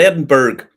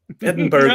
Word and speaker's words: Edinburgh: I'm in Edinburgh. Edinburgh as it's normally called. It's pronounced the same way as Pittsburgh.